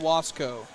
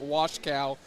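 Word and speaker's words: Wasko: We have someone in the chat going, ", I hate to let you know, but you are wrong. It's pronounced Washcow. It's Polish.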